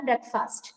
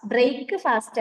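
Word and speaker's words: breakfast: പ്രഭാത ഭക്ഷണമാണ് ബ്രേക്ക്ഫാസ്റ്റ്. സോ അത് AM ആണ് കേട്ടോ. അപ്പൊ ഒന്നുകൂടെ പറഞ്ഞോളൂ. ഐ യൂഷ്വലി കറക്റ്റ് ആണ്, പറഞ്ഞോളൂ. എന്ത് ബ്രേക്ക്ഫാസ്റ്റ്? ഐ യൂഷ്വലി ഈറ്റ് അല്ലേ പറഞ്ഞത്? I usually eat ബ്രേക്ക്ഫാസ്റ്റ്. ബ്രേക്ക് ഫാസ്റ്റ് അല്ല ഉച്ചാരണം, ബ്രേക്ക്ഫാസ്റ്റ്.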